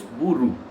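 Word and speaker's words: Bauru: The proper pronunciation is Buru.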